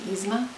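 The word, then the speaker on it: Yzma: heard the character names i know that it's pronounced izma but i don't know so that's three codes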